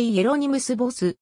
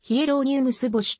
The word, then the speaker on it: Hieronymus Bosch: 本名はエルファなぁ件オランダ語でいえろにむすボスドイツ語で冷えローヌ素干しと発音するが日本ではヒエロニムスボッシュと表記されることもあるベルギー